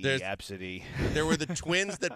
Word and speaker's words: ABCDE: a children's hospital and they were named ABCDE e pronounced absidy wow this goes back